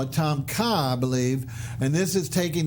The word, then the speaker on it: Tom Kha: take it another step and we call it Tom Kha believe and this is taking the beautiful coconut